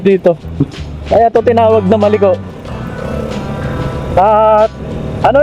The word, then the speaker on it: Malico: Kaya to tinawag na maliko at ano lang correction lang sa mga pronunciation. May nagsabi kasi sa akin, maliko ang tamang pronunciation. Hindi maliko. Kasi most of uh ah ibang content creators ang tawag dito is maliko. Parang maliko ganun eh.